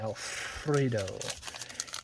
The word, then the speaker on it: Alfredo: Alfredo. You gotta roll your R's when you see Alfredo.